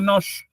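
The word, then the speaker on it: нож: eh se pronuncia este ruso nosh, pero él lo que hace es llamarlo nos.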